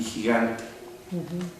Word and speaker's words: gigante: Gigante. Gigante. La sílaba tónica está en la A La A. y luego E. Acaba en la E.